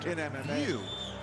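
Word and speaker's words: Wiuff: His His name is spelled like Weave, but it's actually pronounced View.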